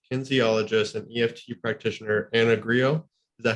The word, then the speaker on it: Grillo: And so today I'm very, very excited because we have Freedom From Self-Sabotage Coach, Kinesiologist, and EFT Practitioner Anna Grillo.